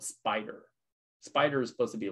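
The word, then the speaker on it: Spyder: to kind of learn about is something called spider spider is supposed to be like really really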